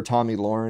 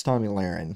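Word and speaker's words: Tomi Lahren: and i actually actually looked up to to pronounce her name right i've always called her tommy lauren it's tommy larrin i always call her tomy lauren so i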